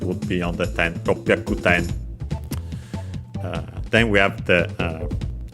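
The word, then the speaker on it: 六百: Ropyaku, luckily also accented on the last syllable.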